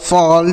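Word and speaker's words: fall: तो अगर ए के बाद डबल एल रहेगा तो औ का उच्चारण होगा। ठीक है? जैसे हॉल, कॉल, फॉल, toll, वॉल, बॉल, ऑल।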